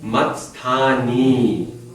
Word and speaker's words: मत्स्थानि: Ni, long E, right? Matsthani.